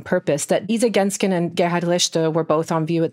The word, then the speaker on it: Gerhard Richter: So Gerhard Richter, I'm pronouncing this deliberately in German and not in my German-American accent.